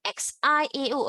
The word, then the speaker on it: xiao: Now, let's look at IAO. AO is, remember just now, AO, how do you pronounce it? Ow, right? Ow, right? So XIAO, again, XI is, how do you pronounce it? C, right? So C, ow, C, ow. In other words, xiao, xiao, xiao.